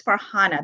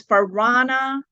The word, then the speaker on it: Farhana: say my name right my name is farhana the way you spell it f-a-r-far-h-a-n-a very simple right uh but it was for Rana Arena and I would think